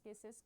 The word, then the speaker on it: CISC: A complex instruction set computer pronounced as CIS sys uh is a microprocessor instruction set architecture is